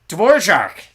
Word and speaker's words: Dvorak: Yeah, Dvorak. That's how you actually say it.